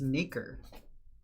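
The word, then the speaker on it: nacre: Wikipedia told me interesting oh it's nikkor maker yeah that's the pronunciation it's a weird word maker it's composed of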